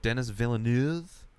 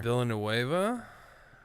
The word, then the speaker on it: Villeneuve: I don't know who, Denis Villeneuve? It's a name I remember. Villanueva? I think it's pronounced Villeneuve. I think it's like a French. Yeah, French Canadian.